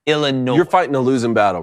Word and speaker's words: Illinois: cat for that later just don't even put the S why is it there just well the way it's pronounced is i l l i n o y think about it like that Illinois you're fighting a losing